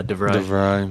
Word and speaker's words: De Vrij: But I don't hear De Vrij mentioned very often. Is that how you pronounce that? Yeah, De Vrij.